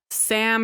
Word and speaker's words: Samhain: the ancient Celtic Festival of sa okay which is spelled Sam Hayne which I hate that it spelled Sam